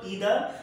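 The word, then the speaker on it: either: इधर, क्या लगाते हैं, आप इसको इधर या आइधर बोल सकते हो, ठीक है। जो उच्चारण होता है शब्द का जो मैंने अभी लिखा है, इसको कुछ लोग इधर बोलते हैं, कुछ आइधर बोलते हैं, दोनों सही है, ठीक है ना।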